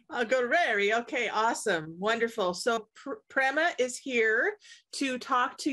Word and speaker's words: Prema: and today we have Prima Prima how do you say your last name it's actually Prema and it's pra Prema gueri and you just